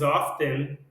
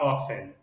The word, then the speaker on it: often: Você pode falar is often, often ou often. Eu prefiro falar often, mas é opção de vocês.